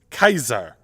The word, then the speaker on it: Caesar: back to ancient Rome you would ask to meet Julius Kaiser there is no J and there is no Soft C in classical Latin and for the German